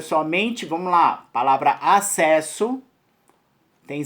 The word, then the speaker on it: acesso: Ao você emitir, não tem 6 letras, né? Passa a ter somente 5 fonemas. Ou seja, A-C-E-S-O. Ou seja, o duplo S você acaba emitindo como somente um.